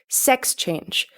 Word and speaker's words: sex change: In English, we stress the first syllable of that phrase, sex change.